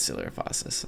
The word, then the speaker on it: Coelophysis: I'm pretty sure it's Coelophysis. Yeah, it would be, because celiac disease is spelled the same. And I'm doing that in human bio right now. Yeah, it is Coelophysis.